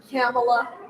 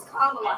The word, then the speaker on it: Kamala: to words cameela Harris is it Kamala or came Kamala Harris okay I when I was on radio yes and I would say it wrong yeah be people would call in just to tell me dude her name right it's KLA Harris what do you what